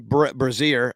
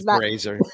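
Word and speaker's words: Brasier: relievers uh Ryan Presley Ryan braier that's what I call him anyway I know it's braer that is not how you say his name that's not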